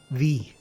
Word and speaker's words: ye: or ye old, so when you see ye, even though it's generally used ironically, you should pronounce it the. So it's, for example, ye oldie store would be the old store.